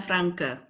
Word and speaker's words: Francke: may I ask you which one is correct for the pronunciation of your name is it yes Mina Frank or yes Mina Frankie or anything else yes Mina franka yes Mina franka okay uh thank you madam